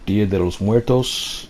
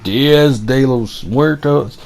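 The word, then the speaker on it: Día de los Muertos: we have this thing in mexican culture called dia de los muertos and it's kind of like sean of the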